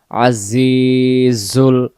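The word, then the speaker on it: العزيز: মুহাইমিনুল মুমিনুল তাড়াতাড়ি মুহাইমিনুল আজিজুল আজিজ এখানে জায়ের জেরটাকে আমরা এক আলিফ টেনে পড়বো জের বামে ইয়া সাকিন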